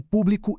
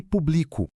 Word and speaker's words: público: Acontece a mesma coisa com o público e público. Público com acento é um adjetivo ou substantivo. Mas se tirarmos o acento e mudarmos a sílaba forte, público se torna a primeira pessoa do verbo publicar. Eu publico.